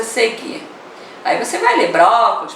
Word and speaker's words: brócolis: já vai ver que a sílaba tônica é o bró. O lis é a última, o có é a penúltima, é o bró. Então ela é o quê? Se a antepenúltima é a tônica, ela é uma palavra proparoxítona.